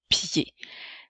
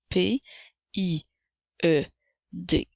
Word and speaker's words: pied: le mot pied s'écrit P i e d la lettre D est une lettre muette et le la lettre E fait le son et même s'il n'y a pas d'accent alors un pied comme